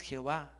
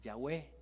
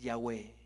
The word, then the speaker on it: Yahweh: Dios es Yahweh no es Jehová es Yahweh no es la palabra Jehová es esas letras que usted ve allí y le han puesto sílabas de la palabra Adonai pero no es esa la pronunciación original es Yahweh repita conmigo con temor